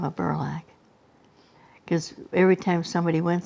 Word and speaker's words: Burlack: Burlock. And now it's spelled? Burlack. See, there it was Burlock, and now it's Burlack. It's got an A and instead of an O.